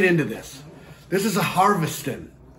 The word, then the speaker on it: Harviestoun: that it'd be you you wouldn't have ever been asked to be able to pronounce it but it's harvesting it's prudent scotland all